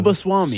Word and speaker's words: Subbaswamy: He doesn't know how to pronounce the full thing. I need you to say it again so I know. Subbaswamy.